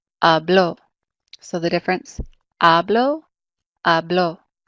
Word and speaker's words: habló: And in the preterite, it's the last syllable. So hablo would be the second to last syllable, right? A is the second to last, and now we've moved it to the last syllable. So we mark it with an accent mark, and it sounds like this, hablo.